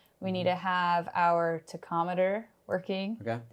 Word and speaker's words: tachometer: We need to have our tachometer working. Okay. Am I pronouncing it wrong? Tachometer? No, that's fine. Tachometer's fine. Tachometer.